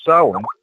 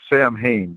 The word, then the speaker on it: Samhain: You all follow a basic 8 Sabbats or holidays, which Halloween, otherwise known as Samhain, it's spelled S-A-M-H-A. It's spelled like Sam Hain, but it's actually pronounced Samhain, and it is Celtic.